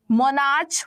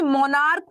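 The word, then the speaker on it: monarch: जैसे मोनार्च बोलते हैं कि मोनार्क बोलते हैं, बताओ जरा, मोनार्क या मोनार्च। तो हम बोलते हैं मोनार्क।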